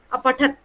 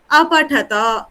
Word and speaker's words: अपठत: पुरुष का बहुवचन है वहां हम अ का भी उच्चारण करेंगे तो अपठत अपठत अपठतः अपठत अपठत अपठत ह नहीं आएगा अपठत अ आएगा केवल पुरुष बहुवचनत मध्यम